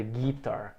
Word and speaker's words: guitar: tão lembra e também lembra da sílaba tônica aqui geralmente eu escuto as vezes em enganado aqui guitar playing the guitar não sílaba tônica é a segunda tu ainda guitar o